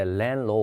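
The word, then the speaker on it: landlord: no lo 들어갑니다 가운데 디바 를 만들 입니다 발음할 때 렌 로 올 들어 갑니다 1집 주인이 고요 그 다음에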